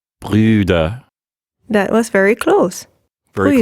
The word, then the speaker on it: Brüder: Brüder. So when you pronounce the U with an umlaut, you'll raise